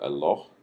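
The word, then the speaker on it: אלוה: Now notice you've got El, and then this is kind of a long O sound, and then H at the end. So Eloh, and the plural form of this is Elohim.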